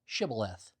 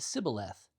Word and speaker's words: Shibboleth: If he said, Nay, then said they unto him, Say now, Shibboleth. And he said, Sibboleth, for he could not frame to pronounce it right.